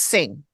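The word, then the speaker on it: Hsing: this doctor's last name Dr Andrew HS i n g I think it's sing sing I think I heard him say sing Oh I did not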